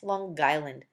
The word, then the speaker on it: Long Island: I grew up on Long Island pronounced longland which clearly demonstrates to